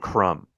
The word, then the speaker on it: crumb: right like the like the B and crumb like why does that